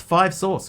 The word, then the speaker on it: 5SOS: 5 Seconds of Summer, often shortened to 5SOS. Pronounced 5 Sauce.